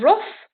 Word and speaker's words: rough: You got rough. Instead of the GH sound, or rug, you got rough. You got the f sound.